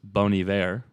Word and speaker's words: Bon Iver: an interview talk about how it's pronounced bony bear with another accent on it that i'm not even going to attempt probably french uh i believe it